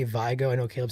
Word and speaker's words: Vigo: So, but I always thought that was Vigo. Vigo. Okay, I'm saying it wrong then. So I gotta change my way. So it's Vigo.